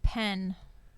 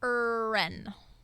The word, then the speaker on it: Ren: Yeah, I think you said Penn. Oh, did I say Penn? I think so. Oh, like Penn Station, like William Penn? Yes, but it's Ren. It's Ren. Yes.